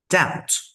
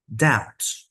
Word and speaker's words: doubt: three syllables Wednesday Wednesday doubt doubt we don't pronounce this B sound there receip receip just like